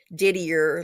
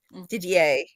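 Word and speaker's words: Didier: Um, it's But that's the correct French French pronunciation of his name. It's not diddier like it says. It's Ddier.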